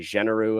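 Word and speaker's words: Généreux: Yes, that was very genereux of you. Pronounced like Matt Genereux, the conservative MP who quit.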